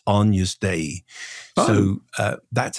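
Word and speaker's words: Agnus Dei: of Scala radio that it's not Agnes day it's Ana day.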